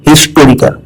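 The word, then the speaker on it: historical: हिस्टोरिकल pronunciation है हिस्टोरिकल। यहाँ एच बोला जाता है, यह कॉन्सोनेंट साउंड है, इसीलिए भावल साउंड नहीं है, और हम लगाते हैं एन ना कि आन।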